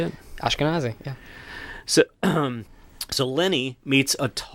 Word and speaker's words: Ashkenazi: Ashkenazi.